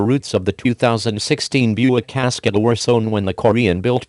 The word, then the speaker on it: Cascada: The company is trying to do the same thing for the 2016 Buick Cascada, pronounced Cascada, waterfall in Spanish, a truly international four-seat convertible.